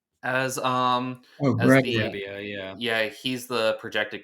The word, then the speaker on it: Brebbia: I think right now Roster Resource has I never know how to pronounce his last name. Briba as Oh, as Greg. the Brebbia, yeah.